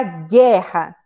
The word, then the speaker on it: guerra: Por exemplo, na palavra guerra, é como se só existisse o G, né? Porque o U não tem som de nada.